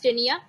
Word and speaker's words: Taenia: हां, टॅपवर्मला खूप छान असं नाव आहे, दॅट इज टिनिया. टिनियाची स्पेलिंग आहे TAENIA.